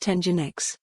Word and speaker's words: Nginx: Both men now work for F5 Networks, which purchased Nginx, pronounced Nginx, in May.